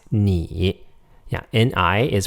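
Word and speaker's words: 你: means you it's pronounced knee yeah ni is pronounced knee I in Chinese is pronounced e like a long e vowel like almost like double e in English II me me not nigh me it means you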